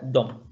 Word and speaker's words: dem: Y dem se pronuncia dom.